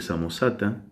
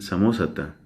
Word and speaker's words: Samosata: Luciano, a su vez, había sido discípulo de un obispo de muy mal recuerdo, llamado Pablo de Samosata, que otros pronuncian también Samósata.